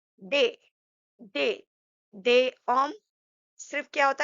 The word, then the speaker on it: des: So they, s, we have to put a s to make it plural. So they but it will be silent. We are not going to read it or pronounce it.